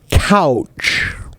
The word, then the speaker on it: couch: What is the difference between coach and couch in pronunciation? Couch. Couch is more like the word cow plus ch.